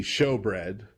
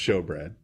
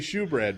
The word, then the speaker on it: shewbread: the table with the showbread often spelled with an e but it's still pronounced show bread the shewbread yeah you want to say shoe bread but that's not what